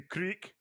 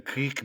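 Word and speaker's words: kriek: beers there so many you could have the creek I have a creek AEK get a creek beer you know what that is no it's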